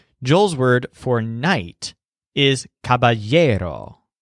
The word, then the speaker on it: caballero: word for night is Caballero so the stress sounds kind of like a year Caballero note that the word